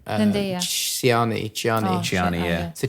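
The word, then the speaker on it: Chani: Chiani, yeah. So Chiani's like Chiani.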